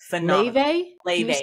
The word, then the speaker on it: Laufey: Leve, and it's spelled Laufey because she's Icelandic.